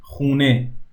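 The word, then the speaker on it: خانه: Khane, or we casually say khune, khune. Most of the a sounds in Persian converts into o when you're speaking casually.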